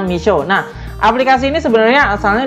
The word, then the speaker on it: Meesho: aplikasi namanya bumi pisau tulisannya tuh mpshh Oya bacanya Miso nah aplikasi ini sebenarnya asalnya dari India dan